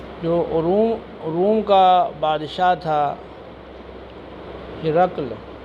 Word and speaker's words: ہرقل: جو روم کا بادشاہ تھا ہرقل، ہا کے نیچے کسرہ اور را کر فتح ہے، قاف ساکن ہے. ہرقل یہ زیادہ بہتر اور فصیح تلفظ ہے.